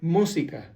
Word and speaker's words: música: For example, the word música. Música has a little tilde on the U. That means that now you have to stress the word on the first syllable, música.